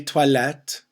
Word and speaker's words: toilette: Des toilettes. Toilette. The OI sound toi. Toilette.